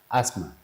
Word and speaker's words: asthma: As- asthma. So, you the T is silent.